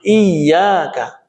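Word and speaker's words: إياك: Nah, yang kelima, iyyaka na'budu wa iyyaka nasta'in. Iya-nya ini tasydid. Tapi kemudian kadang-kadang terabaikan iyyaka na'budu wa iyyaka nasta'in.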